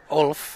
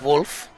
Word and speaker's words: Wolf: I think I've been calling one of the players on Team Alberta, Ulf, and I did go over and ask the coaches the pronunciation of their names, but it is Wolf.